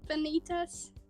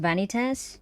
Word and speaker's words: Vanitas: reminded me of like Kingdom Hearts Benitez I think it's pronounced vanitas in the anime that